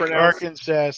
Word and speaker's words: Arkansas: Toad Lick or Big Lick, Arkansas. It's pronounced Arkansas.